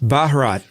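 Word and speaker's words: Bharat: The background I was looking up how to pronounce India in Hindi and it's Baharat.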